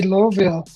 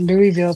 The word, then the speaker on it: Louisville: I've heard people say Loville. Uh I've always said Louisville, too.